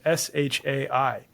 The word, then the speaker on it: Shai: And we came across this name Shai, which is spelled S-H-A-I.